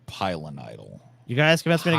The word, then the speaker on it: pilonidal: Pineidal cyst. Pineidal cyst. Yeah, that's what Paul had. Yeah, it had a homicidal cyst. You know what I'm saying? It's pilonidal.